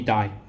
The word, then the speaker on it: dye: So DYE, dye. So it's pronounced exactly the same with DIE, dye.